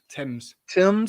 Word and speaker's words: Thames: Thames.